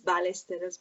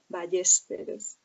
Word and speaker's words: Ballesteros: In Italian it's Ballesteros, but in Spanish it's Ballesteros.